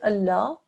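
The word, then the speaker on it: الله: the majestic lamb and the majestic lamb is alarm which is within the word Allah for example here and sometimes the llama shell becomes thick and heavy sometimes it becomes thin okay and the way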